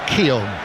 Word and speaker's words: Keown: And on the subject of pronunciations, it is Keown. It is Barry Keown who's sitting in the director's box.